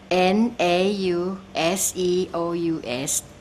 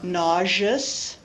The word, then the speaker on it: nauseous: but it's hard for me would you please pronounce this word n a u s e o u s thank you n a u s e o